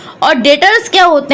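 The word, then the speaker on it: debtors: और डेबिटर्स होते हैं, डेटर्स इनको बोलते हैं, प्रोनाउंसिएशन डेटर्स है।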